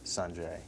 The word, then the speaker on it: Sanjay: Well, I play this tennis player named Sanjay Gandhi, and actually the pronunciation is Sanjay.